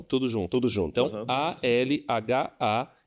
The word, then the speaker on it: Al Hayat: Então, ALHAYAT. Al Hayat se pronuncia Al Hayat.